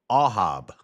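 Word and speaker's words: אהב: So in Hebrew it's Ahab. Or it's pronounced Ahab. Ahab, love.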